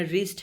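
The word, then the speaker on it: wrist: Some words have initial consonants which are not pronounced. For example जैसे honest एक word है, इसमें एज की साउंड प्रोनाउंस नहीं होती. इस तरह रिस्ट है, नॉलेज है.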